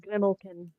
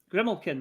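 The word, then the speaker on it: Grimalkin: m yep a l k i n it's pronounced grimlin grimlin okay there you go yeah it's based on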